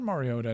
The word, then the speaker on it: Mariota: Marcus Mariota. Mario. Oh, I've heard Mariota now that you mention it.